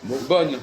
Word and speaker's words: bonne: lettre mais si justement le E on le prononce pas là bonne bonne ah ah oui d'accord tu prononces pas le E ah oui le e il te sert à quoi le E là ah oui à prononcer le N ah oui parce que bon tu dis bon mais si tu ajoutes e ça devient bonne et à ce momentl